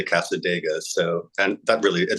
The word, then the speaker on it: Cassadaga: Casta dega came out which I always want to call Casa Daga because that's kind of how it's spelled but on the record on one of the samples they say Cassadaga so and that really